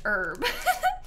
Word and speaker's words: herb: there you know sorry why do Americans not pronounce the h and Herb Louise I could ask you the same thing what are you doing going around saying herb this goes both ways I